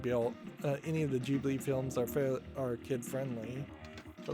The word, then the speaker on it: Ghibli: Any of the Ghibli, Studio Ghibli games, not Ghibli, it's Ghibli is how it's pronounced, like Princess Monaco, Spirited Away.